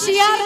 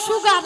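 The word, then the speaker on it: sugar: মাসি শিয়ার নয়, বলো সুগার।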